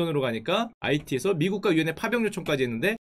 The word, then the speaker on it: 아이티: 근데 왜 IT가 아니냐? 이건 제가 왜 갖고 왔냐면은, 제가 어렸을 때 그 불어반을 했죠. 자, 프랑스어는 H가 묵음입니다. 아, 좋습니다. 요런 거 하나 알아가면 돼요. IT죠. IT. H가 묵음이에요.